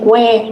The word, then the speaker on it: where: is a silent letter and where does mean H is a silent letter all right okay so let's move on here we will just have some discussion question Okay.